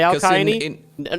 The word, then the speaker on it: Alcyone: I mean, in a lot of languages, the C is not pronounced as an S, like usually it's done in English, but as a K instead. Yeah, I think it would definitely both be accurate.